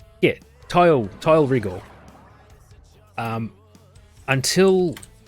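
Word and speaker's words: Tyl: be sleeping in like what's his name yeah tile tile regal until Lotus said his name we had always pronounced to till till Dragoon and that was fine and then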